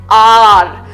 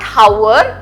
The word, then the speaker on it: hour: clearly in English then what is the pronunciation of the word I have been reading for an R so the pronunciation of the word is r r it is not how or hour it's R I have been reading